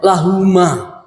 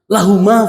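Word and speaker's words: لَهُ مَا: Fis samawat Bacanya apa lahuma lahuma Fis samawati lahu Ma Fis samawati miliknya milik Allah segala yang di langit dan di bumi tapi kalau lahuma Hunya dibaca pendek milik keduanya langit dan bumi ini coba artinya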